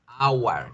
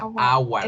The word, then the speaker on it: our: Our, como la hora. Our. Es la misma pronunciación de hora.